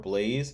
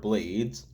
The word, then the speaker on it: Blades: Apparently, I mispronounced his name. It's not KamenRider Blaze. It's KamenRider Blades.